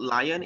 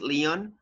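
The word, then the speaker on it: León: things right for example the pronunciation for this city is not lying its Leon all right this is Florence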